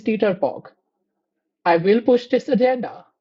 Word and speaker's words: TTRPG: Uh, Side note, this is the first and last time that I am pronouncing it as GTRPG for your benefit. From now on, it is Teeterpog.